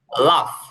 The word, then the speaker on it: laugh: হাসার যে হাসির ও আচ্ছা, হাসা যে হাসা, ইংলিশ লাফ, লাফ, লাভ, LAUGH, হ্যাঁ, এটা লয় আকার ফ, তবে ফটা একটু মোটা করে বলবেন, লাফ, হাসা, লাফ, হাসা, লাফ, হাসা।